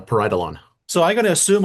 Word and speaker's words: Pareidolon: I've got Lachlan Talker here and he's from Paridalan. Did I pronounce that right? Uh, almost. It's close. It's a parietalon.